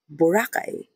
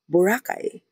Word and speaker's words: Boracay: Kasi itong mga proper nouns, they should be pronounced based on the preference of the person whose name it belongs to and geographical location plays a part as well. So yeah, Boracay.